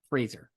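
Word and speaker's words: Frasier: Fraser.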